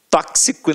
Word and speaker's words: tóxico: Já nas proparoxítonas, a gente já sabe que a sílaba tônica estará na antepenúltima sílaba. Exemplos aqui, ó: gramática, tóxico, né, cara?